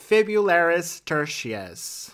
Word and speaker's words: fibularis tertius: We're moving on to another muscle on our list – the , also known as the .